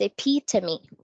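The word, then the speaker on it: epitome: so it's pronounced as a p to me so the stress is on the second syllable it's on the pit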